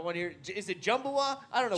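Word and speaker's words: Jimi Manuwa: Is it Jumbawa? I don't know. Jimmy Manuwa.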